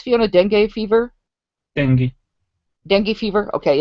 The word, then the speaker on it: dengue: Zika is similar to, how is it pronounced, Fiona? Dengue fever? Dengue.